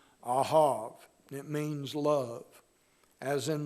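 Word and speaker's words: אהב: Now, the key idea is the word that is pronounced in the Hebrew, ahav.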